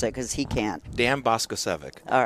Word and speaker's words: Boskocevic: Dan Boskocevic. All right, That's the English way of pronouncing it. Boskocevic. You don't want to hear the Serbian pronunciation.